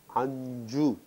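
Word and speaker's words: அஞ்சு: A, in, chu. This becomes anju.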